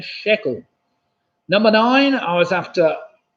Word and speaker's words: shekel: That's a freckle, which of course rhymes with the shekel. A freckle and a shekel.